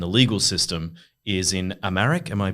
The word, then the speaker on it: Amharic: entire country and the legal system is in Amharic. Am I pronouncing that correctly?